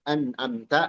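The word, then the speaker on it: أنعمت: Lalu ayat keet7 kata penulis atta anamta maftuhah. Ta dari kata anamta itu fathah. Anamta. Jangan jadi tu atau ti ya.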